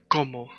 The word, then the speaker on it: como: when speaking Spanish, that when we have a word like como that has two O, the O that does not have the accent, in Russian they pronounce it as a. In Spanish, you cannot make that mistake.